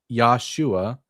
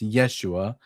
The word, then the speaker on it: Yeshua: I believe the Judeian people tried to sacrifice Yoshua. It's actually pronounced Yeshua with a with an e, not an a to Yahweh, which to which stop the end because Yesua ran away.